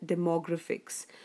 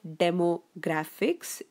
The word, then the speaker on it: demographics: focus on the pronunciation it is not demo graphics it's demographics so see where you have to give the stress the more okay so the stress comes on them more and not on the demo okay so it's demo